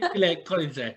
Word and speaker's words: Lile Koridze: Lile Koridze.